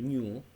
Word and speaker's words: ню: одиницю часу ви бачите позначається літерою ню так і пишеться як ню і читається як в ньому будь ласка зауважте собі